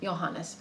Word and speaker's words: Johannes: okay so Johannes Keplar johannes i say that's the german pronunciation but we've some minutes